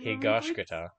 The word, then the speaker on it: Higashikata: Higashikata. Higashikata. I hear people on YouTube always say it differently, but in anime, that's how they say it, so I'm going to say it.